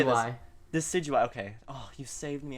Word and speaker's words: Decidueye: Decidueye.